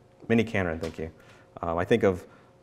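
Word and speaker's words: miniKanren: And then Core Logic is mini Conron, is that how you say it? So it's pattern matching, logic based. I think of Prologue when I... Mini Canron, thank you.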